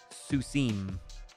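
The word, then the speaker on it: סוסים: Pronouncing that im sound. So in the case of sus, we have susim.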